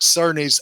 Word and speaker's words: Cerny: I called Mark Cerny Mark Kearney last week. I realized that a couple days ago. I was like, oh shit, that's not how you say his name.